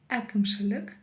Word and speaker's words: әкімшілік: Здесь нам с вами нужно научиться произносить букву «э». И за основу мы возьмем, конечно же, букву «я».